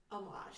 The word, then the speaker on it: homage: And nobody pronounces the H in homage.